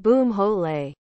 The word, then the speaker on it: Bumhole: Bumhole. Pronounced boomhole.